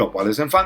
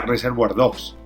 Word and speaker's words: Au revoir les enfants: Que este tipo no sabía mucho francés y lo pronunciaba mal, y en vez de decir Au revoir les enfants decía Reservoir Dogs.